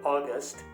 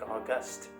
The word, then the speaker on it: august: was an august gathering you might actually think that i mispronounced the word also i should have said august and i've ended up saying august if i insist that